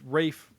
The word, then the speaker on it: Ralph: Well, yeah, but that's Rafe Fiennes. That's how they pronounce Rafe in Yeah. England. So it's Rafe. Oh, I did not. Yeah, it's like Rafe Vaughan Williams, not Ralph Vaughan Williams. It's Rafe.